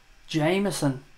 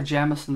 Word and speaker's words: Jameson: Jameson, or Jamison, depending on which way you want to pronounce it.